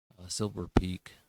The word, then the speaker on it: Silver Peak: This year, HPE, or Hewlett Packard Enterprise, purchased Silver Peaks. Silver Peak is the way it's pronounced.